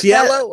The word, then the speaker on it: Cielo: That's Cielo.